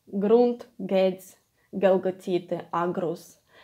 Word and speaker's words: грунт: And this one is strong г, like gates, but gates even stronger than in English. And it occurs quite rare in Ukrainian, but you need to pronounce it strongly.